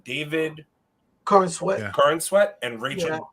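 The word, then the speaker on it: Corenswet: David Corn Sweat.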